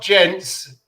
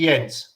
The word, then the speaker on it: Jens: It's not gents. I know it's spelt with a J. It's actually Jens.